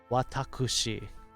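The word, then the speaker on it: わたくし: super formal one jesse it is the same kanji as watashi but instead it is pronounced watakushi yep and started out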